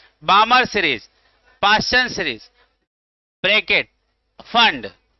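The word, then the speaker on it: Pfund: Lyman series, बामर series, Paschen series, bracket, फंड, P silent है, और सबसे लास्ट हम क्या है, हमफ्री।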